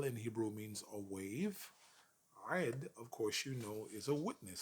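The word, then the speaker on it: עד: It is the Hebrew word ed, ed, spelled with an ain and with a dalet.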